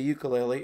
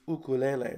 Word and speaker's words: ukulele: is commonly called the ukulele, and in fact, if you call it anything else than that, people are going to get confused. But the actual pronunciation, if you go to Hawaii, is ukulele.